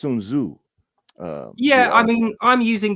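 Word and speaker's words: Sun Tzu: interesting question by the way I believe it's pronounced sunu U yeah I mean I'm using the kind of the the Chinese way of saying it but I know over here everyone says sunu because that's the way it looks but I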